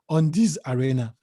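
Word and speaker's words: Undiez Arena: business and i named it on this arena on this arena on this spelt u-n-d-i-e-z arena there was a time facebook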